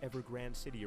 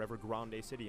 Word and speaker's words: Ever Grande City: sense to me because that is the Spanish pronunciation of that word and it's a Spanish spelling of the word but the anime says